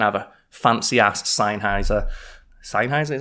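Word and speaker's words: Sennheiser: new mic and have a fancy ass seiser seiser is how you pronounce it senis a um shotgun mic which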